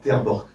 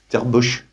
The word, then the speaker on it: Terborch: L'autre génie, c'est Terborch. Ça s'écrit, c'est pas mieux. Ça s'écrit, c'est pas écrit là. T-E-R et plus loin, B-O-C-H. Terborch.